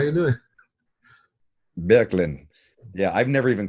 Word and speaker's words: Boecklin: Yeah, the two dots are supposed to be over the O, so you take it away. It's like Bjorklin.